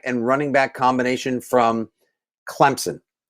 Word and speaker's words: Clemson: running back combination from clemson i know there's no p but you pronounce it it's not silent it's just invisible clemson travis atien and trevor